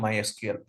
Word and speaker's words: MySQL: concentration will be on MySQL so we'll pronounce MySQL as my SQL it's not MySQL and MySQL is used